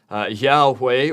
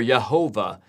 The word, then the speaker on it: Yahweh: And the way you would pronounce this is Yahweh or Yehovah. The W and the V sounds can kind of alternate there.